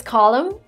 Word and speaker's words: column: the next word is column this is where you don't pronounce the n at the end of this word column i didn't have the